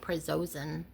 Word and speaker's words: prazosin: It's called prazosin.